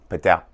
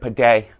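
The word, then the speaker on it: padel: paddle sport in America Patel p-a-d-e-l I think I pronounced that right if I didn't maybe I should have just said per day because it rhymes with don't forget to have a good day and let's get started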